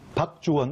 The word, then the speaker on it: 박주원: 박주원, 박주원. 그렇죠. 발음 잘하셔야 됩니다. 박주원입니다.